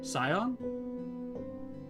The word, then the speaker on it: scion: You guys can't hear Malish cat, but um she's telling me that the sea is silent and in scion, but I've been saying it wrong this entire time.